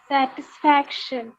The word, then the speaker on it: satisfaction: to pronounce that satisfaction very good satisfaction so stress is on faction fact satisfaction all of us